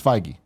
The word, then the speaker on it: Feige: say yeah working there we'll make sure we pronounce it our new Canon I don't wanna get it it's Feige Mike I'm rolling with this tigey that's what